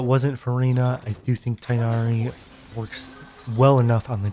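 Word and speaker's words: Tighnari: no talents for tinari tigari I used to always say say it right at tigari but then the game always uh the in-game dialogue always says tinari so sometimes I sometimes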